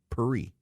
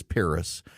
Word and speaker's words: Paris: Churchill quote that uh the French insisted that Winston Churchill should call Paris perie and Winston Churchill when finally confronted by it said that if that was the case someone should go back in time and tell his mother to give birth in Paris because he is an Englishman and he says Paris he is not a Frenchman so he does not say perie I am an